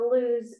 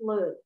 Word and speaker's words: Lud: And the airport was first called the Luz Airport because that was the original name. Sorry, Lud. I'm saying it wrong. Luz is light in Hebrew.